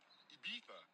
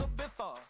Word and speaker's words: Ibiza: I just went to Spain, that's a Ibiza. Ibiza, yeah, it's pronounced Ibiza, actually.